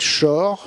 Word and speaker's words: Schor: là le titre m'échappe, mais qui s'appelle Juliette Schor, ça s'écrit S-C-H-O-R, Juliette Schor.